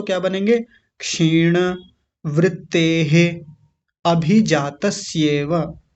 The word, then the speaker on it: क्षीण: पहला शब्द है क्षीण, क्षीण, क्षीण नहीं क्षीण। वृत्तेः या वृत्तेर ऐसा बोलेंगे, वृत्ते, वृत्ते नहीं वृत्तेर, भी जातस्येव या अभिजातस्येव, अलग अलग करेंगे तो क्या बनेंगे? क्षीण वृत्तेः अभिजातस्येव या अभिजातस्य जमा इव, इव।